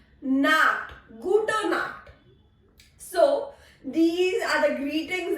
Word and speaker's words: Nacht: Gute Nacht. Nacht. K. This has a sound of K. Nacht. Gute Nacht.